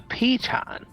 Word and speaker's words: piton: But if It's pronounced a piton.